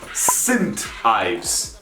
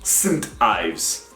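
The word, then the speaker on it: St Ives: do not pronounce it as saying do you pronounce it as synth in romanian wooden e sint ives and it's not ibis it's ives sint ives but good thing to know that whenever you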